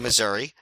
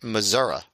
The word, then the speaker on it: Missouri: Missouri and I thought good job pronouncing Missouri as for a lizard man although you know if you listen to political pundit if you want to win the state of Missouri in a presidential election you have to pronounce it Missoura did you know that